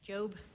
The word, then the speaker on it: Jobe: is that correct dan it's actually pronounced job my name is jobe i am the president